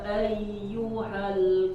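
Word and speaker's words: أَيُّهَا: Qul ya ayyuhal kafirun. Haknya sempurnakan. Ayyuhal.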